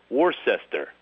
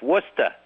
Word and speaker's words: Worcester: I said people pronounce things strange. I was in this town Warcester and they said it's Worcester.